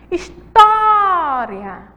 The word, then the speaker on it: história: temos a palavra está a palavra história aí ó ela é uma paroxítona certo história Store a sílaba forte aí é o Thor certo ela é a penúltima sílaba e ela vai receber